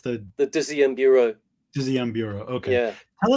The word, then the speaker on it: Dixième Bureau: How do you pronounce it? It's the Dixième Bureau.